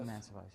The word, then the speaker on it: Mancevice: Am I pronouncing it right? Mancevice, yes.